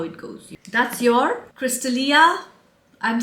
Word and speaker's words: Crystallia: like this it's Crystallia no it has to be Crystallia cuz double L right Crystallia would be one L so it is Crystallia